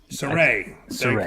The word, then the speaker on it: Saray: Saray.